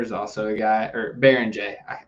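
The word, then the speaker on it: Beringer: Yoan Behringer is also a guy or Baron J. It's spelled Behringer but pronounced Baron J.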